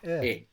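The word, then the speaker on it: è: Now, this e is pronounced a little bit smiley. So make a smile, and with an open mouth, make e. And there you will get the sound. Smile and open mouth.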